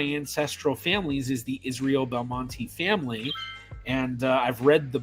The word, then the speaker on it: Belmonte: E at the end, which I've always pronounced Belmonte. I've heard a lot of other people say it like that, but then I've also heard a lot of people just say Belmont.